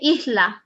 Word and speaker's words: isla: is before a consonant you can say ishla instead of isla you say ichla okay